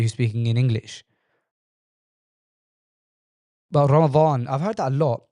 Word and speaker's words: Ramadan: Confusing thing about Ramadan for me is that Ramadan in Arabic is spelt right with a dod, yeah. But I often hear people pronouncing it as if it's spelt with a dha.